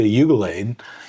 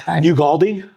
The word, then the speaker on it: Ugalde: I think the original bag, if you talk to people like Tita Ugalade, did I say her name right? I don't think so. But Ugalde, maybe? Yes.